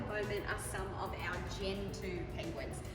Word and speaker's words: Gentoo: are some of our Gentoo penguins. Some people pronounce it with a G, a Gentoo.